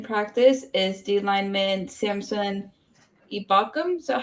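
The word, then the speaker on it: Ebukam: um Limited in practice is the lineman Samson ibakum is that how you say it ebukom come okay figure out how to say dude I kept pronouncing it like you did Evil yeah um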